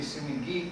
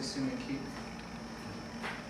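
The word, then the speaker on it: 隅木: I think it should be sumigi, because usually the consonant hardened with a harder sound, but a lot of people also say sumiki.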